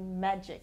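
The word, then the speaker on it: Enagic: person once said the right answer is definitely magic and some people call this magic water and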